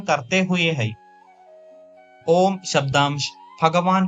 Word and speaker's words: ओम: इसका शुद्ध उच्चारण खुले मुख के साथ ओष्ठों को सिको कर ऊ तथा ओष्ठों को पीछे लाकर मां ध्वनि निकालने से होता है।